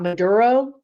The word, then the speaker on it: Maduro: to the point that my guides are giving me accent lessons like Maduro madur I go around the house going Maduro Maduro Maduro mad I'm like trying to say it like I hear it in my mind and I can't because I can never roll my RS I just can't do